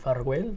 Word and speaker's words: Farguell: The correct pronunciation would be Farguell, but it's hard to pronounce. Yeah, it's Spanish? It's actually Catalan.